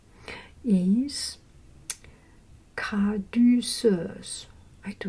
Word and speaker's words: Caduceus: Okay, the third sacred syllable is caduceus. I do not know the name of this. C-A-D-U-C-E-U-S.